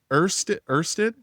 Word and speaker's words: Ursid: want to and how do you say it's Ursid, how do you say it? it's OC. Ursid? Yeah, Ursid, it's got it.